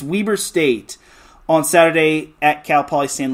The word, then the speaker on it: Weber State: altogether against we Weber Larry B pronounced it Weber State it's Weber State on Saturday at calpal